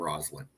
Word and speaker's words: Roslyn: character on their name Roslyn that's how I knew to pronounce her name with a z with a z Oh